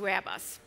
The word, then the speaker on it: Airbus: was not known, and I kept saying Airbus, and everybody thought that I worked for ABBA, the Swedish rock band that you probably all know. So I had to pronounce it Airbus, like the Americans do.